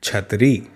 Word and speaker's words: छतरी: कहेंगे छतरी है ना रा में बड़ी आई की मात्रा है ध्यान दीजिए तो हमें इसका उच्चारण थोड़ा लंबा करना है कहेंगे छतरी इसे हम छतरी ऐसा नहीं कहेंगे ठीक है छतरी फिर